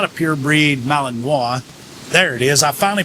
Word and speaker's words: Malinois: So, it's not a purebred Malinois. There it is. I finally pronounced it right.